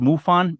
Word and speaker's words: MUFON: author director of michigan m-u-f-n-o-n pronounced mufon but i don't know